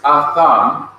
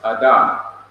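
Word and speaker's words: אדם: This word is atham, and it means man. It could also be pronounced Adam, but technically it is pronounced Atham.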